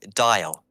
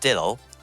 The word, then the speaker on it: Dial: and uh he did it was not dylo why would you pronounce it like that it's dial oh geez to mark